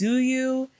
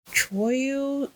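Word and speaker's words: Tzuyu: The one I don't know if I'm pronouncing her name right, but it's Zuyu. I think her name is pronounced Choyu, Zuyu.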